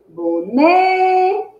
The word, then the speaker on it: boneca: Boneca. Ó. Boneca. Qual é a sílaba mais forte? É o né. E o né ocupa que posição na palavra? Ó, última, penúltima. O né é a penúltima.